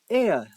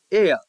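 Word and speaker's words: heir: Example including an H-E-I-R, that is air, air.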